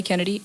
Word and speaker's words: Kenedi: under the same name um my name okay Kennedy okay k-e-n-e-d-i Kennedy is spelled strange because my mom wanted to be